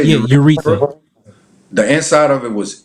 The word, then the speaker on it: urethra: Yeah, urethra.